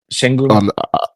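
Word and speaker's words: Şengün: Shenun.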